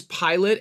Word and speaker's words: Pilate: and whatever yeah sure it's Pontius Pilate and by the way it's spelled like pilate not like pilot like he wasn't a pilot yeah okay that was